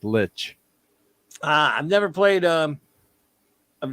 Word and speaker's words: lich: the scariest things there but you say it like you say like there's a t in there so like lich i've never played um